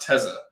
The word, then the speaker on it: Tessa: I want to make sure it's because I've seen people spell that, but it's pronounced Tessa.